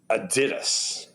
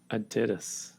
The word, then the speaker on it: Adidas: these years the name because it's a German company the Nate that this actually pronounced Adidas Adidas Adidas that's how you print